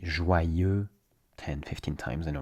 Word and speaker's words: joyeux: In French, it's e, exactly the same sound as in the word for I in French. Je suis, je veux, je pense. So you say je, and you replace the j sound with a y sound. Je, you say ye instead. Ye.